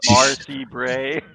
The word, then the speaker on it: R.C. Bray: It's pronounced R.C. Bray. Yeah. Spelled completely different.